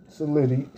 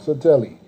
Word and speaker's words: Satelli: Now, there's a rumor that's going around that's being told that Michael Saletti, excuse me, because y'all get it wrong, so you got me saying it wrong. Satelli.